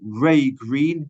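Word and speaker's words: Wrea Green: Secondly, for 2024, my client has also secured a bus service for those from Preston via Kirkham, Freckleton, Ray Green, that's how it's pronounced, and Wharton for just £3 each way.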